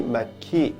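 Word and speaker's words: مكي: 그래서 발음이 마키 이렇게 바뀌면 관계형 용사가 되고요.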